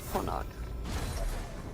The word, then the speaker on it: Ponok: It's pronounced Ponok. Ponak? I think. Ponok.